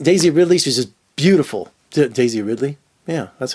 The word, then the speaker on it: Daisy Ridley: and it just Daisy Ridley she's just beautiful Daisy Ridley yeah that's how you say her name god